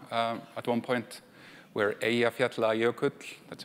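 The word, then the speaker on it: Eyjafjallajökull: thing going on um at one point where aat yut that's how you say it um stopped air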